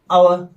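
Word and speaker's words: hour: silent है इसी तरह एन आवर यहां पर भी एच साइलेंट है एन नरे बल यहां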